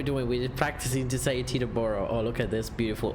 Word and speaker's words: Teterboro: me see the burro now I'm gonna say as an American has to be Teterboro Teterboro okay I don't know I'm